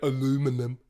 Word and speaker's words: aluminum: It's literally spelled aluminum in our country. It doesn't have that I, so it's spelled aluminum. That's why we say it that way.